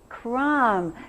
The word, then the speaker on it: crumb: What is a silent letter in there, Molly? Yeah. What in the world is that silent B doing in there anyhow? Does anybody have something related? Oh, good. Yeah. Crumble. And this one's going to be a different word. But it has a silent B, but it's going to be a different one. Crumble. So do you hear the B in Trish's crumble? Yeah.